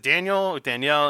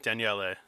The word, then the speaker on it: Daniele: I was like, is it Danielle, and it's Daniele or something Okay.